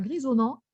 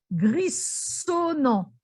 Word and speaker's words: grisonnant: Alors, s'il y avait eu 2 S à grisonnant, j'aurais prononcé grissonnant. Parce que le son S se prononce ce avec 2 S. Tandis que quand le son S est mis, comme ici, avec entre le I et le O, donc entre 2 voyelles, il se prononce ZE.